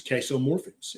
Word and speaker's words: casomorphins: of the byproducts is ques morphins and it rhymes with morphine because it acts like morphine not as strong as